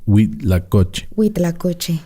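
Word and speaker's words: huitlacoche: people that's spelled with an h-u-i-t-l-a-c-o-c-h-e and it's pronounced we lacocci and if you look at the pictures it's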